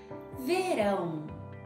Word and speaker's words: verão: This word here, verão, which means summer. Verão. It's not verão, it's not verão.